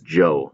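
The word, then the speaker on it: Zhou: Zhuo dynasty yes this this right here is Jo dynasty that's how you pronounce it I looked it up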